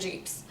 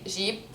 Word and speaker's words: Jeep: everywhere in lebanon and jeeps uh in lebanon we say jeep you don't say jeep it's like the french word sheep so america how do